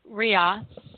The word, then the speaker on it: Ra: word for the Sun Rhea which is RA and I've always pronounced it rob is actually ria in egyptian Apollo Titan